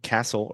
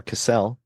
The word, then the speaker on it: Cassel: okay and it stars Kristen Stewart and Vincent Castle or casselle I'm actually not sure how you say it but I think it's casselle okay interesting I'm I'm was not expecting this